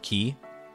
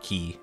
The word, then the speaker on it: Qi: You'll always say it is Mr. Ki. I can accept Mr. Key.